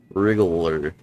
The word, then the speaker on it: wriggler: you know I think technically they're called rers like with an R you can call them wigglers but I think the right way to say it is wle wriggler could be all right